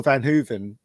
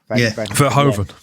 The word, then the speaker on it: Verhoeven: Yeah, and Paul Van Hooven, is it how you pronounce his name? Verhoeven.